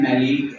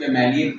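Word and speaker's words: maleic: इसे हम बोलते हैं मेलिक एन हाइड्राइड कुछ लोग इस मेलिक पढ़ते है कुछ मेलिक पढ़ते है तो आप दोनों तरह से प्रोनाउंस कर सकते हैं मेलिक एन हाइड्राइड मेलिक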